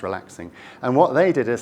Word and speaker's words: RELAX NG: There was a rival kind of alternative standard called relaxing that was standardized by Oasis, Relax NG, but it's pronounced relaxing.